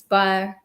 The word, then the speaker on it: Bayer: I have to correct your pronunciation. It's BA. Bayer.